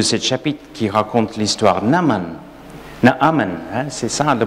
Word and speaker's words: Naaman: Naaman, hein, c'est ça la prononciation, bonne prononciation.